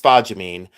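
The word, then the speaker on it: spodumene: Uh there is a stone out of my desk uh across the way that is a uh spaamine uh and it's pronounced spagamine.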